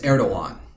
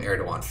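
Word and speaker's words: Erdoğan: I know it as Erdogan. He's got a G in his name, but it's pronounced with a W sound.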